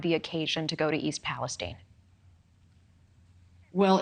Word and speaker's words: East Palestine: It's East Palestine, not Stein.